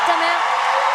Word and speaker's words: ta mère: Ça va continuer, ça passe pour ta mère.